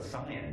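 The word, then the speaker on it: scion: You may not know what Sayan means. It means descendant. That word appears again and again. How do you spell that?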